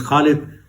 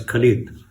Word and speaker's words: Khalid: My name is Khalid. My name is pronounced by most in the Western world who's English speaking as Khalid or Khalid. But the Russians do pronounce it.